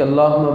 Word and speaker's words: اللہ: وہ یہ ہے کہ لفظ اللہ جو ہوتا ہے نا وہ لفظ اللہ لام پر کھڑی زبر ہوتا ہے.